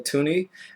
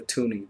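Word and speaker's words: toonie: I wanted this to be called bear, but I obviously lost and they called it a tuni because it rhymes with loony.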